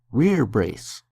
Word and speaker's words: rerebrace: The metal part that protects your bicep and upper arm is called a rear brace. That's not how it's spelled, but that's how it's pronounced. Rear brace.